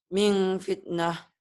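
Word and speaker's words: مِنْ فِتْنَةٍ: Min fitnah. Nah, tapi ada M-nya. Min fitnah gitu. Min fitnah. Gimana? Min fitnah. Nggak langsung ya, ada M-nya ya.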